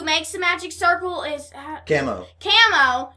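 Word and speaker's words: Kamo: And usually, who makes the magic circle is Camo. Or Chamo, however you want to pronounce it. It's Camo, and Camo's like, he's really pervert, and he's like, oh, kiss, why don't you?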